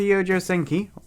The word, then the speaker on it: Youjo Senki: We're back to Youjo Senki, or Youjo Senkai, or Youjo Senkikiki. We're back to Youjo Senki, which apparently is the correct way to pronounce it, so if it's worse, I tried.